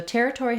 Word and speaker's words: territory: So territory has the stress on the first syllable, ter, and letters ER say the air diphthong.